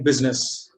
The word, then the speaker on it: business: I is silent only in business.